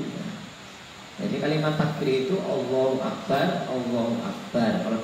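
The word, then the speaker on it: الله أكبر: mungkin belum tahu kalimat takbir yang sebetulnya, kadang pengucapannya agak sedikit ya saya kira sedikit keliru ya. Jadi kalimat takbir itu Allahu Akbar, Allahu Akbar kalau 2 kali, kalau 3 kali berarti Allahu Akbar tanpa itu.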